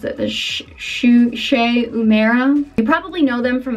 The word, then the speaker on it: Shu Uemura: anymore but I use this this is they pronounce that the shushei mara you probably know them from their eyelash curlers